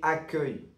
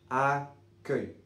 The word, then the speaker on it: accueil: Pour la prononciation de ce mot, c'est a comme le a dans le chat. A que que comme le e dans e et ye comme feuille accueil accueil accueil je sais